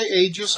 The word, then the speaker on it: Aegis: the sag aegis ae01 now i know a lot of people say aegis i went online to verify the pronunciation it is indeed aegis but you may say it however you like i don't really care